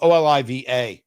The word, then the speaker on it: Oliva: So, Oliva, O L I Va, um um sometimes pronounced Oliva or or Oliva, your your your choice.